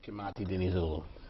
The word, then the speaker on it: Kimati Dinizulu: Kimati Dinizulu, or Kimati Dinizulu, how we pronounce it? Explain it. Correct, Kimati Dinizulu.